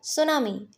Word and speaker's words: tsunami: द सुनामी। सुनामी की spelling देख लेना। सुनामी में क्या होता है? टी एस यू एन ए एम आई। T silent होता है यहां पर।